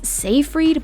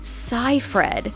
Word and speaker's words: Seyfried: her real name was still a mystery some pronounce it as seyfried but it's actually psy fred no worries she's dealt with it as a